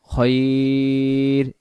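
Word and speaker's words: خير: জবর কাল উচ্চারণ বিয়াদিকাল খয়া জবর খয় হবে আবার রয়ের সাথে খয়র এই শব্দটার উচ্চারণ হলো খয়র বিয়াদিকাল খয়র ওয়া তুযিল্লু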